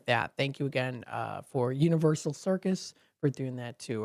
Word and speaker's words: UniverSoul: It's Universal Circus, so it's Universe. Here, I'll spell it for you. UNIVERSOUL. So you think of Universal, S-A-L, it's soul, like of the soul.